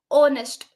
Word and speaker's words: honest: it should be n because while pronouncing we are starting with onest so whenever we use